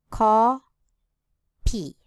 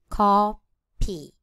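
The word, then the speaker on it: 커피: In Korean, there is no F consonant. Therefore, it is written in P. Co P. Co P.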